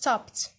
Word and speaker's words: stopped: t i know it's d here but it's pronounced stopped some got out got out and paid the